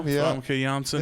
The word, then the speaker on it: Famke Janssen: Maybe Famke Jensen, however you pronounce her name. Yeah. Famke Janssen.